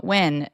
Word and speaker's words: Nguyen: And today we are interviewing Tram Wyn, and her last name isn't spelled W-I-N, but it is pronounced like that.